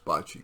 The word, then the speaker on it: bocce: He goes twice a week to the Italian-American social club's bocce court. Actually, they pronounce it boce, I hear, where he plays 2 games.